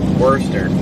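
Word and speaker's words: Worcester: massachus that's probably why I don't visit Worster Worster see I keep thinking it's booster I've always pronounced it mooster moer they're all right oh they're get they're just swapping drivers okay I always pronounce it woa w power lines are dangling over here it's woa I'm not running oh negative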